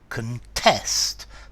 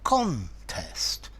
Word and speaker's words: contest: notice the verb to contest the stress is in the second syllable and a contest with the noun the